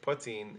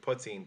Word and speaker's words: poitín: The most authentic way to pronounce it is in that language, and the T would be a slender T, as I would call it, as a former Irish teacher and tutor.